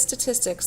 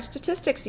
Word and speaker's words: statistics: The first video of our statistics unit. You're going to see a couple words spelled out phonetically for you down here. Statistics is this word. It's pronounced tis, ticks. Tis, ticks.